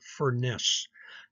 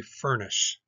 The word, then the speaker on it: Furness: very bad temper so think of it as a fiery furnace in one plot we